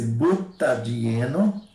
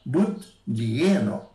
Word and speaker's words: butadieno: Então, esse butadieno, se eu falar butdieno, aí então dificulta a pronúncia.